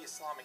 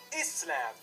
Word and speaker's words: Islam: It's pronounced Islam, not Islam, but Islam.